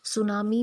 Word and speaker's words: tsunami: करेंगे इसे 10 सुनामी सुनामी में पीस साइलेंट है क्योंकि जब भी MS Word के साथ में आते हैं तो ऐड से पहले झपटी जाता है तो टीम साइलेंट रहता है इस इसमें टाउन